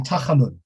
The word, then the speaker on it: Tachanun: Is it, I'm not going to pronounce this right, is it Tachanun or something like that? He pronounces it perfectly. Exactly, Tachanun, which means prayers of entreatment.